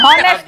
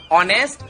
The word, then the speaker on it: honest: Honest नहीं। इसमें H silent है, ऑनेस्ट और ऑनर होता हाँ।